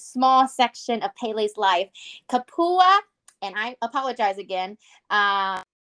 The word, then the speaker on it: kupua: pronounce that wow we we have to pronounce that extra a because Hawaiian knows how to pronounce all of their letters in word okay see we can't